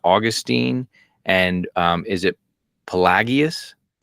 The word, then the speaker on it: Pelagius: You say you talk about Augustine and um is it Pelagius? Pelagius. Pelagius. Okay, I butchered that.